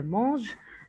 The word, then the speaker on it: mange: Faites attention, on ne prononce pas le ENT, on dit il mange des pommes.